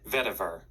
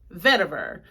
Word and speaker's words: vetiver: Let me see how it's pronounced. Vetiver. Vetiver.